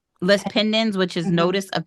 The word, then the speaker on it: lis pendens: I think it's pronounced Liz. Lis pendens, which is Mhm.